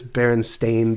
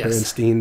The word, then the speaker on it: Berenstain: way um but yes it is berenstain bears as opposed to bernstein bears but i don't know